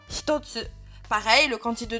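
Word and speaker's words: 一つ: Si on a le kanji de 1 plus le hiragana tsu, eh bien, ça se prononcera toujours hitotsu.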